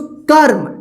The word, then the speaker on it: कर्म: तो इस रेफ की मात्रा इस क के बाद आधा र का उच्चारण होगा। क्या पढ़ेंगे इसको? कर्म, ठीक है।